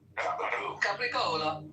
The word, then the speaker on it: capicola: Dan, do you know what the Sicilian pronunciation of capicola is? It's not a joke. I know it. Capricola. Gabagool. That's what the meat's called there.